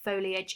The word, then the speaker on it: foliage: So it's the word foliage. It's a noun, so it's a thing. It's got 3 syllables, foliage, and it means that it's plant leaves collectively.